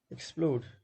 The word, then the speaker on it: explode: Explode, you can see this is verb, and there are two syllables, explode, and verbs with two syllables are often stressed on the second. So here two syllables, second stress.